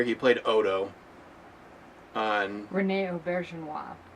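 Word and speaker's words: Auberjonois: He played Odo on Rene Aubergenois. Aubergenois.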